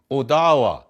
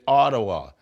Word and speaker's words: Odawa: Odawa, some people say Ottawa.